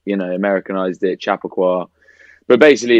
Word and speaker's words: Chappaqua: Wait, it's Chappaqua, not Chappaqua. I've been saying Chappaqua this whole time. It's not wrong. That's not wrong. Yeah, you can say it like that. A lot of Northerners are like Chappaqua.